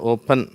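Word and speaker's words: open: ஓபன் சரியா ஓபன் அப்படின்னல ஓபன் அப்ப அந்த அப்படிங்கிற உச்சரிப்பு இங்க கொடுத்திருக்கோம். சரியா அப்ப இந்த ரெண்டு சிலபல் இருக்கறதுனால இதுல முதலாவது சிலபல் ஸ்ட்ரெஸ் ஆகுது.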